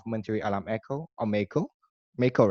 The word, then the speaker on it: MAEKO: MAEKO, right? That's the way you Yes, pronounce it.